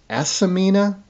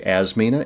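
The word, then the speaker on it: Asimina: pawpaw is as as asamina triloba there's actually a little I in there that's kind of hard to pronounce I usually say asmina it's Aina so as s i m i n a triloba more commonly known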